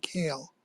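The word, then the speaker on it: Kael: just to be nitpicky I think it's Pauline kale um I think her last name is pronounced k um the uh I learned it by reading so you're probably right and I'm probably wrong okay um because I had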